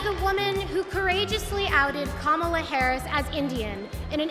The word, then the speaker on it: Kamala: Hollywood star, Kerry Washington, along with Harris's grandnieces, taught the DNC crowd how to pronounce Kamala. Everybody over here, say Kama! Everybody over here, say La! Together!